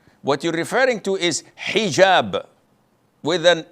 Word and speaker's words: hijab: otel or Alo but this is an Arabic word so we're Muslims we have to say hijab secondly it is permissible